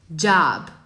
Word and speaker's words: job: Então, ó, não é, eu sei que tá escrito O, mas não é um som de O. É um som aberto de A. Job.